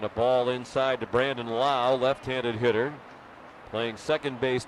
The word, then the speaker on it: Lowe: We have a Lau. Spelled the same, L-O-W-E, but Brandon pronounces his last name Lau.